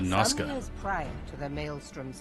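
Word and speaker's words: Noscea: It's pronounced Nosha. I've always said Noska.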